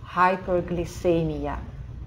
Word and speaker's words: hyperglycemia: Как только эмия, там буковка И, буква С перед буквой И читается как С, hyperglycemia.